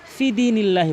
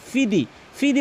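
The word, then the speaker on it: في دين الله: বলে এখানে কিন্তু বলতে হবেনা এখানে কিন্তু অধিক ফিদিনিল্লাহি বলে ফিদিনিল্লাহি ফিদি ফিদি বলা যাবে না এখানে ফা এবং দাল এখানে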